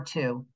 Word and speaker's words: two: time spelling the number two t wo they're going to say here's going to be the question why is there a w in the word to it makes no sense and what are you